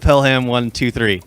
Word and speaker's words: Pelham One Two Three: this i was thinking about the taking of pelham one two three that's how you say it that's how you say it tell him yeah i call him pillow pelham pelham 123.